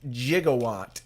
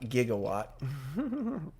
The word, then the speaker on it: gigawatt: friday the gigawatt that's right i believe they pronounce it gigawatt in the movie not gigawatt so this is a simple drink to make